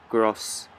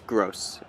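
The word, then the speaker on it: Groß: letter I don't and apparently that's like a SS or something like that like that's how you pronounce it so it's i believe it's gross and i actually heard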